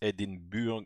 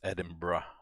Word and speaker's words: Edinburgh: would read it as edinburgh on edinburgh you actually pronounce it as edinburgh so the the the berg is kind of pronounced as a bruh bit of name pronunciation